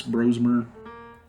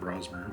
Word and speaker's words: Brosmer: and I saw Max Brosmer, which I guess it's pronounced Brosmer and not Brosmer, which I was disappointed to learn. I thought it was Brosmer.